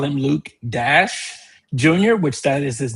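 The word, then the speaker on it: Dashjr: Some people call him Luke Dash Jr., which that is his name. I've heard some people call him Luke Dasher, and then I've heard some people call him Luke Dasher Jr.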